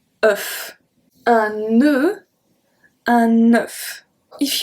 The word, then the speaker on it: œuf: So if you can hear the difference, this one, un neuf, sound exactly like a E, just a E. Œuf.